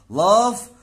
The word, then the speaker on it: laugh: نمبر 5 لاف ولاف ات، هنا جي اتش يا شباب هيبقى تنطق حرف الايه صوت حرف الاف، يبقى انا حرف الاف